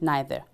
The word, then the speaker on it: neither: Today we will learn how to agree with so and neither. Or you can pronounce neither. Both ways are acceptable.